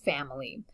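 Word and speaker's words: famille: about here family and the double l has a kind of a soft y sort of pronunciation and that of course is family so ma family i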